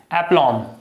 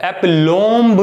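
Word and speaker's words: aplomb: Pronunciation इसका होगा एप्लॉम। इसे एप्लॉम पढ़ेंगे आप, एप्लॉम्ब नहीं।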